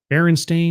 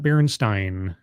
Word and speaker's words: Berenstain: It was Berenstain, right? Yeah. Berenstain, not Berenstein.